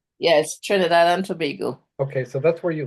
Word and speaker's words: Trinidad and Tobago: and I always mispronounce it. There's Trinidad and Tobago, is that correct? Yes. Trinidad and Tobago.